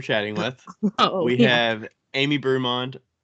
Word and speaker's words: Brummond: with we have amy brumond is that the right way to say your last name uh just brummond okay amy brummond i